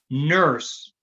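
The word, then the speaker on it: Nourse: Even before that, the great grandmother of these guys, of Nate, Tim, and Mary, was a lady called Rebecca Nurse, which is how they pronounce the name.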